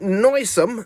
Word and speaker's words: noisome: offensive to the senses so there you go noisome not noisy smelly not loud one shout but